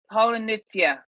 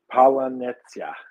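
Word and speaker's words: паляниця: Polonitsia.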